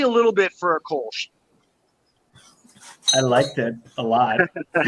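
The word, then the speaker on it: Kölsch: It's that umlaut, so it's a little bit of a ooh, but it's a sound that American mouths make.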